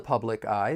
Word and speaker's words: public eye: We can link the final consonant sound in public with the beginning vowel sound in I.